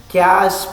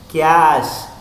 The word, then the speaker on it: cache: The next volatile memory category is cache memory. Pronounced as cache, not as cache.